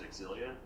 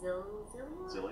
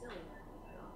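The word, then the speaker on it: Xillia: you might know better, I always said Exilia. I think it's just Zillia. Because I used to say Exilia too, but I think some of the cast people have been like, it's Zillia.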